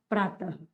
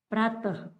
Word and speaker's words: प्रातः: वाली व्यंजन ध्वनि एवं इसका जो उच्चारण है वो कैसा होगा, उच्चारण ह के समान, ह के समान, ह के समान। जैसे हमने लिखा प्रातः, प्रातः, तो प्रातः लिखा तो प्रातः, बस इसका अगर विश्लेषण